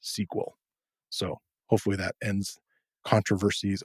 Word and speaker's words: SQL: So SQL, those letters, are Structured Query Language, but it's always been pronounced SQL.